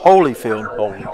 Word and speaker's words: Holyfield: Hey, Joe, we have some people from Tug listening to us on here, and they said that boy's name's pronounced Holyfield. Holyfield.